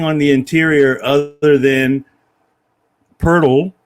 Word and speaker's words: Pirtle: They just have nothing on the interior other than Pirtle, which rhymes with turtle.